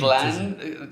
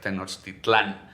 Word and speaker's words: Tenochtitlan: Tenochtitlan, like Nahuatl always has the accent in the second to last syllable. Okay. But when it translates into Spanish, sometimes it goes to the last one, like Tenochtitlan, Yeah. which is actually Tenochtitlan.